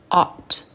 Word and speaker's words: ought: Et devoir, ought. Voilà, on prononce pas le G et le H, ok? Ought.